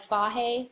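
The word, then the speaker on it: Fage: The recipe is Greek yogurt, like the real Greek yogurt, like fahe, spelled like phage, like it tastes like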